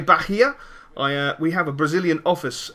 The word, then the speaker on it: Bahia: imports and exports, and he was saying, yeah, Bahia is correct, and so hopefully I have got that pronounced correctly, so I'm quite happy.